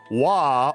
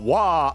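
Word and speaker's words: Waaagh: For those of you who don't know, wah or w a a a gh, the g is silent. Uh wah, I believe in their language means just war.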